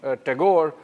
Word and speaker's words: Tagore: Takur uh you know the the Bengali prefer to call him Tagore uh originally Takur and uh in Hindi I think they still call him Rabindat Takur but in English it becomes Tagore and that's that sort of stuck and uh it was